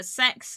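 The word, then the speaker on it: CeX: and yes before anyone asks uh it is pronounced uh sex over here no nobody calls it that except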